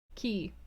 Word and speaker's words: quay: gray hurried along the is it quay or key key you're right it's pronounced he dorian gray hurried along